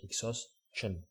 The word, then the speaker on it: exhaustion: I said it well the first time. Exhaustion. Like a exhausted is a T. That's why I started having that. Exhaustion. Like ch.